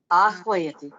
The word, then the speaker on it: आह्वयति: Sir, that 1 second that how to pronounce this? Hyadi. Hyadi. आह्वयति वा? Ahvayati.